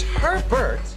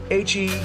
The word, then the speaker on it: Hebert: You know, it's Hebert, H-E-R-B-E-R-T, Hebert, H-E-B-E-R-T. Hebert. It's a fun name to pronounce.